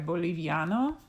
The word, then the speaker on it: boliviano: first word we have boliviano and so if you see the i and the a together you know those are going to have to go together in the syllable so let's look and